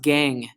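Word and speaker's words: gangue: can get the resource funky way of spelling it but this is just pronounced gang so it's the worthless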